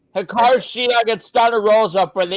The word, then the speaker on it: Hikaru Shida: So it's pronounced Hikaru Shida. I just said that. I thought it was hard to pronounce, but well. Now what the hell? Yeah. All right. Hikaru Shida against Thunder Rosa for the AEW Women's World Championship.